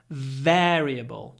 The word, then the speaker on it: variable: Variable. Don't rush. Don't say, but variable. Hold it for a moment.